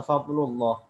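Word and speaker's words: فضل الله: Bagaimana kita membacanya? Bacanya fadlullah atau fadlullah. Dibaca dengan fadlullah. Ya, itu namanya dibaca dengan tafkhim.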